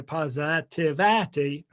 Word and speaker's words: PositAVity: to start using positivity so pause p-o-s-i-t-a-v-i-t-y positivaty phonetically it's here on the screen right now